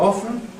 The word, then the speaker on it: often: And as you can see, I prefer a pronunciation with no T sound, although 1/3 of my respondents prefer it often with a T, so you can do what you like.